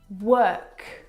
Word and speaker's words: work: but this is incorrect the vowel sound is actually as in her work world word this is your